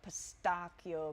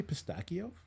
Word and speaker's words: pistachio: Can you say pistachio That's how they pronounce it in over there? there. Okay, Yeah. not pistachio. No. Pistachio. It's pistachio. Pistachio, biscotti, espresso.